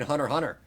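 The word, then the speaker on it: Hunter x Hunter: as we all know we do not pronounce the X in Hunter Hunter.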